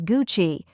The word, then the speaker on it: Gucci: to say it is Gucci two syllables with a soft cha sound like in the word cheese here's a trick to